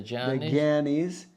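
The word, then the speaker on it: jnani: So you got the karmis, the gyanis. Yeah, that's actually pronounced J-N. It's really weird. It's gya.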